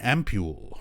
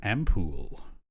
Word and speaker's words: ampoule: in our pockets and an ampule or an ampoule depending on where you live apparently it's okay to pronounce it either way it's a regional thing ampule this is the stuff